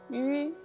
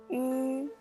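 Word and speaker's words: ü: And the trick is, you need to pronounce E first, the really wide mouth. E, E. And when you pronounce E, just keep pronouncing and draw the two corners of your mouth together and make it narrower and smaller. And then at last you'll get the U sound.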